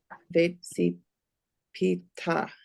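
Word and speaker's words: וְצִפִּיתָ: And put the stress on the end because it's a vekatal. Vetsi pita.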